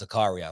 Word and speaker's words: Zakaria: from my friend today i said it's pronounced zakaria so i'm going to go with zakaria until somebody else will text me later and say it's zechariah um but anyway i